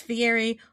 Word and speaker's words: Fiery: I don't know if it's specifically how Marian pronounced it, but I got some clarification that that last name is usually pronounced Fiery.